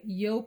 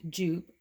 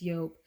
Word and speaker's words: Joop!: that i realized that it's not pronounced jupe although a lot of people do call it that it's yolk this fragrance here is